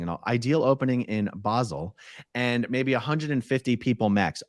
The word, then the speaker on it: Basel: case Ventura P.S basil pronounced bozal locally oh my god I've never heard anyone say that it Basel a Basel it's got to be Basel not bosel right I've always said basil